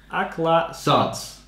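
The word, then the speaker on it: Aclazotz: Hey, how do you pronounce it? Aklathos. Aklathos.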